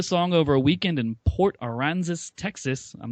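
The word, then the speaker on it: Port Aransas: Rich wrote the song over a weekend in Port Aranzis, Texas. I'm not sure if I'm pronouncing that right.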